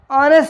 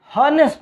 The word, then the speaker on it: honest: होते हैं उनमें अगर एच की जो साउंड है वो साइलेंट है, एच हम लिखेंगे मगर प्रोनाउंस नहीं करेंगे, हॉनेस्ट नहीं पढ़ेंगे, ऑनेस्ट ओ से शुरू होगा।